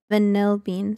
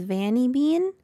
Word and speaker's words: Vanill Bean: as my YouTube It's vanill Bean spelled the same way some people think my name is vany Bean there is a secret little L there just a little secret L it's almost as secret